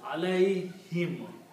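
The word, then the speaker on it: عليهم: Now in the tajweed, in the recitation, when we combine these, we do not pronounce this dhamma here, but we pronounce a kasra. So it is pronounced as alayhim.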